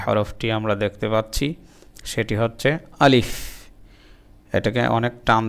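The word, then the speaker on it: ثاء: তা তা তা সা, জিহ্বার আগা দাঁতের আগা লাগাবো, তাহলে উচ্চারণটা খুব নরম হবে।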